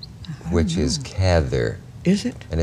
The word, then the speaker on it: Cather: always used to say you can say cather if you'd rather which was supposed to